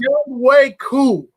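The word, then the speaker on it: Younghoe Koo: That phonetically, it's young. It's spelled differently, but I had to learn to say it the right way. Okay, It's Young Wei Koo.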